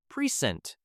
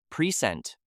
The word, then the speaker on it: present: Say the word with exaggerated stress. Record, the noun. Record, the verb. Present, the noun or adjective. Present, the verb.